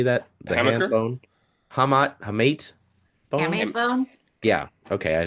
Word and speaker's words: hamate: how do you say that the bone hamat hamate bone bone yeah okay I saying it guys handbone you made me swear I wanted you to work through that hamate um and then it was just kind of